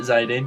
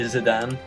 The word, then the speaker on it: Zidane: Yeah, I pronounce it Zidane. A lot of people say Zidane.